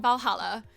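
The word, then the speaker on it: VA-11 HALL-A: bar Valhalla by Miki the name sounds silly and a bit hard to pronounce good thing it's actually called Valhalla the funny numbers and letters are just a code anyway I visited this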